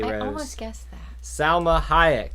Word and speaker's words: Salma: Is it Salma or Selma? Because Selma is a city in Alabama. Correct, but Salma sounds like salmonella. Salmonella is what it was. Salma Hayek is how it's spelled. I know that's how it's spelled, yes. But I swear, when you listen on TV, people say Selma Hayek.